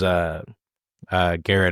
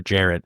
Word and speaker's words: Jarrett: They did lose Garrett, as we mentioned, to the Bears, or Jarrett. I keep saying his freaking name wrong.